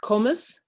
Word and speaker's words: Combs: Yes, it's pronounced Comus.